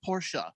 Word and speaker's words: Porsche: Last Optimist says, you pronounce Porsche incorrectly. It's Porsche. You have to put the accent at the end, like in a stripper's name.